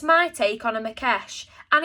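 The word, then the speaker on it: Maquech: If you're interested in what it is that I'm talking about in the story here, Google a Makesh. It is spelt Maqueech, a Makesh.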